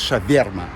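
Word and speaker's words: шаверма: Ça veut dire shaverma. Ou alors shaourma, comme on dit à Moscou. À Saint-Pétersbourg, on prononce shaverma, comme chevirme.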